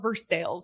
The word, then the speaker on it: Versailles: I have a story Versailles, you know, like the city of Versailles, like it's French, right? They call it Versales here.